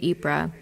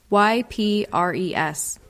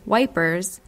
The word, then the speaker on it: Ypres: press at cloth Hall Ypres is spelled YP re s and so wipers poked fun at the common english miss pronunciation of the name since the first issue